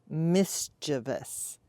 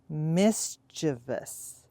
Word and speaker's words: mischievous: Practice the sounds. Mischievous. Mischievous. Mischievous. Mischievous. An example you could use for this pronunciation is, the little boy is mischievous. Now for me, that sounds a little strange because, like I said, I grew up in rural Nebraska where we said mischievous.